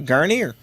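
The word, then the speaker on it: Guarnere: It rhymes with gonorrhea. Garnier.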